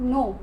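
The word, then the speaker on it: know: यह बताया था कि जब भी के जो है वह इससे पहले आएगा तो के जो है हमारा वह साइलेंट हो जाता है तो यह जो उसकी प्रनंसीएशन होगी यह होगी सिर्फ नो तो नॉमिनीस जानना या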